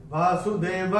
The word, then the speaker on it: वासुदेवः: तीसरे चरण में व के बाद विसर्ग के बाद का अक्षर है स, और विसर्ग के बाद जब श, श या स आता है तो विसर्ग का उच्चारण आधा श, श या स होता है। यहां पे चूंकि स आया है तो विसर्ग का उच्चारण होगा आधा स।